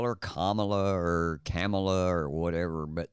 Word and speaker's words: Kamala: watch CA Harris tonight Camala I'm sorry Camala Harris I can't say her name right no matter what so it doesn't even matter you know I don't care what people call her camela Kamala her name is Kamala okay that's my that